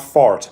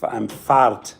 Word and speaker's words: Fahrt: Fahrt. Die Fahrt is the drive, exactly. That's correct in German. Not fart, but Fahrt, die Fahrt. It's with F-A-H-R-T.